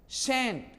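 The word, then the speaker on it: scent: जी नहीं, सी को साइलेंट करके आप एस से बोलेंगे।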